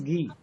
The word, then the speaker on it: ghee: of this word is ghee. यानी H आपका कहीं ना कहीं साइलेंट लेटर है.